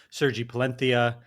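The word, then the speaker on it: Sergi Palencia: Sergi Palentia. We discovered that's how you're supposed to say his name.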